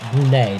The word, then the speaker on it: Brunei: and now afghanistan against brunei or brunei depending on how you prone to pronounce it but here on marvel fu because we're gonna pronounce it brunei they're in the yellow